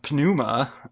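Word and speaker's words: pneuma: that's been translated but the Greek term which I think is pronounced panuma um would have would have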